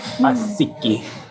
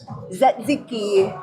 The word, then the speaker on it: tzatziki: And Daddy's eating some lamb with some asiki. Tzatziki. What is it? How do you pronounce it?